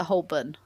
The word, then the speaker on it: Holborn: Street Strand and Holborn pronunciation facts with Claudia Holborn is a Hoban just like reading